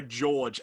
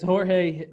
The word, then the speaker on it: Jorge: i see his name i go george and then i go it's not george it's jorge jimenez yeah well cheers silent